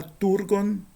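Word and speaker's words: τοὔργον: O primeiro o omicron termina uma palavra, o inicia uma outra e a fusão de e de o com e dá u, né? É um ditongo espúrio também. Então vai ficar turgon ou turgon, tanto faz com o acento, tanto faz.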